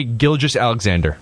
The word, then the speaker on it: Gilgeous-Alexander: How do you pronounce his last name? For sure. Shai Gilgeous-Alexander.